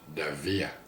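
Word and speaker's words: Dávila: So, I was hoping that this Vidal Davila, he won't even say it the way you pronounce it in Spanish, which is Davila.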